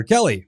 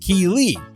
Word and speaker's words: Keeley: more and I realized she was calling my daughter Kelly my daughter's name is Keeley pronounced Keeley so after school was